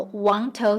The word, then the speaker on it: Wang Tau: I know on the map it says Wangtou, but that's how Hengtou is pronounced in Hakka dialect.